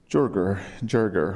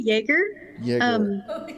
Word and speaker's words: Jaeger: It's actually Jaeger. Yeah, it's German, but it's spelled very uniquely, so everybody has trouble with it.